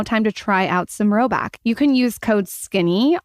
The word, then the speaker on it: Rhoback: If you haven't already, it's now time to try out some Roback.